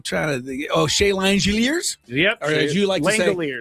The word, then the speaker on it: Langeliers: Some of the other things that happened today, I'm trying to think Oh, Shay Langeliers? Yep. Langeliers. That's how you pronounce became the first guy with five home runs this year.